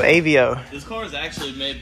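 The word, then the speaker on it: Aveo: uh 2008 chevy of avo avo how you spell it say it a v e o avio this car is actually made by daewoo it's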